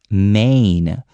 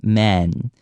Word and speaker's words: main: in the middle of a word, such as main. The A sound has to come out right after the M. So a lot of times I hear man.